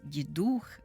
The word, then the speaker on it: Дідух: такий термін новорічний Дідух Ми сьогодні чуємо наголос Дідух коли казали ще раніше